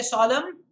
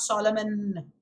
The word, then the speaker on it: solemn: been getting two solemn when i say solemn the n is silent there it's not solomon another word that comes